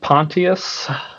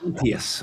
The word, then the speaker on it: Pontius: So spelled the same as Pontius Pilate, but not pronounced Pontius because of that, but happens to be a different pronunciation.